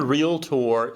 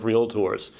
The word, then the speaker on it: Realtor: word and of course it is a two syllable word real tour it is not a three syllable word realtor right so we want